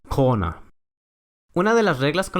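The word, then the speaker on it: krone: Un ejemplo que usa ambas pronunciaciones de la R es la moneda local, krona.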